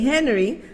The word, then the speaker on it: Henry: Anaye Henry, H is silent. Anaye Henry, happy birthday, darling.